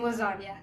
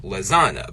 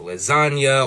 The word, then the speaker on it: lasagna: English speakers is that we've convinced ourselves that the G in lasagna is silent like so much so that even Lil Wayne wrapped about it one time but really it's not really right like if the G and lasagna was really silent like that we probably pronounce the word more like Lasana but we don't we give it a n Sound and that n is signaled by that GN combo and in linguistics that